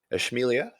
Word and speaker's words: Ishmaelia: all right so uh this is ishmaelia that's how it's pronounced i know this is